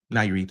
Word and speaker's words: Nayarit: Nayarit, I believe it's pronounced.